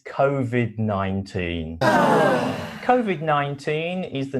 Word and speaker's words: COVID: It's COVID, v. The same as coronavirus, v. If you find the V sound a little bit difficult, you can use the F sound of f, but try to add a